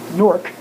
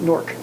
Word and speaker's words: Newark: They pronounce it as Newark, as it rhymes with fork, right? Newark is how they say that.